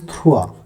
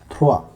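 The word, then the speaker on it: trois: We write it like this and we pronounce it the, right? Third is thrua, so T-R-O-I-S, thrua.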